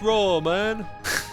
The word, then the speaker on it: ramen: then raw man raw it's pronounced raw man you mean bok